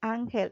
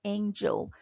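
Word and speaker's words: Ángel: Jesus is her Seuss if the name is uncle its angle is not angel please ask the students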